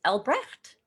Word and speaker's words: Albrecht: real name because your near real name is albrecht yeah very well pronounced better than most ich bin freya here